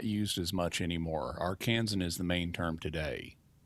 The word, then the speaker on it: Arkansan: Arkansan or Yeah, Arkansan?